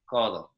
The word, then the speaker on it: codo: Codo. Codo. Codo. Codo. So it's very, very soft sounding. You almost don't hear the D at all.